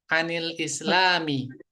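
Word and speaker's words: عَنِ الإسلامِ: alislamu Islam tentang Islam Anil Islami ya di sini Nun sukunnya dibaca dengan kasrah ya begitu orang Arab membacanya maka kita pun membacanya dengan kasrah ya Ini bukan terjadi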